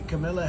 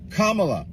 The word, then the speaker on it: Kamala: to correct this stupidity the Camila Harris K la Kamala if you really want someone to listen to what you're saying you should probably pronounce their name right period question mark hyphen